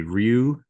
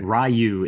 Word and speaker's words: Ryu: So, so the Japanese pronunciation is Ryu, which is Yeah, it's it's Japanese for dragon, but the closest acceptable sort of English language pronunciation would be Ryu, but Rayu is is just silly